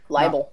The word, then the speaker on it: libel: very least you have labelled or liable whatever the power it's pronounced libel if he did it